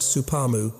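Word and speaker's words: スパム: Spamro processed meat in distinctive blue tins became a term integrated into Japanese vocabulary pronounced supamu representing protein intake unavailable since 1943.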